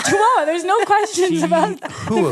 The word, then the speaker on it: Chihuahua: there I is it called how do you pronounce the town chahua it's Chihuahua there's no questions about the pronunciation of Chihuahua